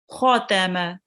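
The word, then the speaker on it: ختم: Remember to round the kho because it's a thick letter. Khotama, Kathama.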